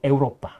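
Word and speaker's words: Europa: 그리고 유럽이라고 근데 유럽 영어식 발음이고요. 라틴어는 에우로파. 에우로파.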